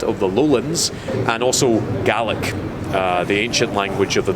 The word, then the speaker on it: Gaelic: I've been saying it wrong all my life. I thought it was Gaelic. Gaelic's Irish. Oh. So for Ireland it's Gaelic, for Scotland it's Gaelic. That's the way you pronounce it differently. Annoyingly, they're spelt the same.